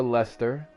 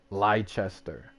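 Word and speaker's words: Leicester: further up but uh we have a Lester and most people would look at these words and will not know how to pronounce them I know how to pronounce them cuz we got them here so even people here will say something like liester and I'm like where's the H there's no h in there why you saying liester but they've actually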